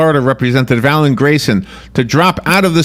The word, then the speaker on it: Alan Grayson: Alan Grayson, 58 years old, Did I say his name right? Alan Grayson, right?